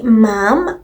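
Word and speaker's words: ma'am: And then five, on presentation to the queen, the conventional formal address is your majesty and subsequently mom pronounced to rhyme with jam.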